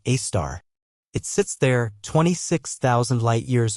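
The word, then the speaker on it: Sagittarius A*: It is an object called Sagittarius A, pronounced A-star.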